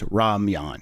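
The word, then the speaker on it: ramyeon: Yes, it was spelled weird in the original one, pronounced as Ramyan.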